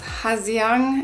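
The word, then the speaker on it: Hà Giang: left Hanoi and we are in Ha Giang, or pronounced Ha Giang at the moment.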